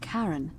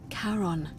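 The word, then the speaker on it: Charon: The name you heard wasn't Karen. It was C H A R O N. As in Karon, the fairyman of the dead. Yo, Karon, who in exchange for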